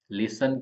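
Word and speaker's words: listen: में के साइलेंट है लिसन के अंदर टी साइलेंट है एल आई एस एन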